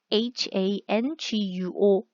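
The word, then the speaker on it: 韩国: 되는데요 예시를 들어 드리면 간체 차로 쓰여져 있는 이 한국을 han guo 한 코 라고 발음 하게 되는 거죠 마찬가지로 중국 이라고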